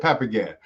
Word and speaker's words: Papagan: Yeah, that's how you say it, Papagan.